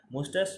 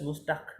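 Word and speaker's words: moustache: মুস্টাস মুস্টাস মুস্টাস মানে কি মুস মানে হচ্ছে গোপ মুস্টাস। তো মুস্টাস মুস্টাক না কিন্তু TSCHE টাস মুস্টাস, বুঝতে পেরেছো?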